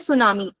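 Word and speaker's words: tsunami: drought next word है सुनामी ये तो इसको कोई तो सुनामी नहीं पढ़ेगा ठीक है इसका इसका करेक्ट प्रोनाउंसिएशन है सुनामी ठीक है फिर है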